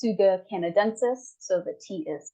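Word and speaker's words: Tsuga canadensis: Eastern Hemlock this is an interesting spelling it's pronounced Suga canadensis so the tea is silent and it is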